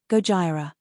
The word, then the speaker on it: Gojira: utter the word godzilla only he does it in its original Japanese pronunciation Gojira true to its message